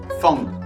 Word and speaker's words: Feng: look like Fang, F-A-N-G, Feng. Feng means square, so Feng, F-A-N-G, is not like Fang. No. And then there's also F-E-N-G, which is more Feng. Feng? Feng. Feng. Okay, second tone.